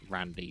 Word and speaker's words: rAndy: get it right and he did confirm that it was uh he saw it as being pronounced as Randy so that's what we'll